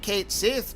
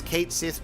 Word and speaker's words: Cait Sith: And we're I know that we're going to call it Cait Sith because that's what we've decided in canon, but the true Gaelic pronunciation is actually Cait Shee.